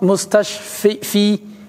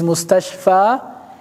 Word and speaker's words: مستشفى: مقصور موسى عيسى مستشفى they are written like يا with no dots But that is an alif. Even the pronunciation Musa, it's not Musi, it's not Isi, it's not Mustashfi, It is Mustashfa Isa Musa.